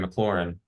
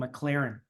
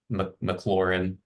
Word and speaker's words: McLaurin: I keep mispronouncing and calling him McLaren, That's like a like the car. that's So a fantasy football team name that I think I've used before. McLaurin F1.